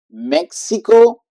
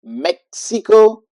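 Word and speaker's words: México: in the middle and you will use S and is Mexico so that pronunciation is more like Maximo or but at the at the same time with the S Mexico Mexico and we have uh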